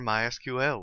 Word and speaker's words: MySQL: as you can tell I've been calling it MySQL that is the correct pronunciation however it is also commonly called my